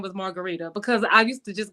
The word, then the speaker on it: Marguritte: she allowed people to call her margarite or Margaret or whatever but me I'm like if my name is Margarita then I I want I want people to call me Margarita even though it spelled like Margarita exactly exactly I agree